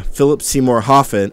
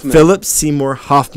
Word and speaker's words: Philip Seymour Hoffman: know I gotta say you know Philip Seymour Philip Seymour hoffen I can't say his name right nowman Philip Seymour Hoffman that's right I don't know any of their